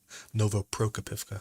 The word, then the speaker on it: Novoprokopivka: Ukraine is within a few hundred meters of Novoprokopivka, or Prokopivka, Novoprokopivka.